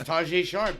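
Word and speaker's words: Tajae Sharpe: It's Tajay Sharp.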